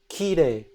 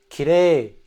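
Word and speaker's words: 綺麗: So in the standard dialect, it's pronounced high pitch to low pitch. Ki re. I'm going to exaggerate. Ki re. Kire. Whereas a lot of non-native speakers make the mistake of saying ki re. So you have those two syllables, they go from low to high. In standard dialect, it's actually high to low.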